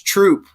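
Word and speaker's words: Throop: mad at me it's troop I I always say Thro because it's th h o o p that's see that's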